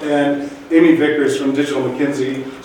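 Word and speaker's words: McKinsey: Amy Vickers from digital McKenzie sometimes pronounce Mackenzie digit if you would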